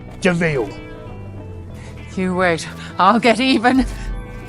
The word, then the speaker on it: de Vil: It's spelled devil, but it's pronounced Deville.